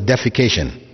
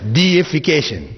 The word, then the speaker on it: deification: that word in english please don't pronounce it as defecation right because that has a whole different meaning altogether it's deification which means making something or someone a god all right so humanization